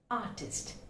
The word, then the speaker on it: artist: Again, we find artist. It's not artist, it's artist. Artist. That's a sound. Again, we find R is silent, almost silent. It's artist.